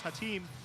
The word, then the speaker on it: Haitam: respect on his name I now have the the correct pronunciations hatim hatam so I AP my